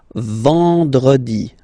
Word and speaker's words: vendredi: Then en, nasal, and it's en. So remember, vendredi, vendredi, vendredi, vendredi.